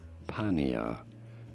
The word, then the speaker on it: Paneah: Zaphanath, Paneah, Zaphanath, Paneah. Zaphanath, Paneah, Zaphanath, Paneah. To Joseph in the Genesis. Yo, my nigga, though. How do you say it? Zaphanath, Paneah, Zaphanath, Paneah.